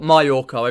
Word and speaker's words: Majorca: the balearic islands of majorca or myorco if you pronounce it because the j is silent lucky marijuana is silent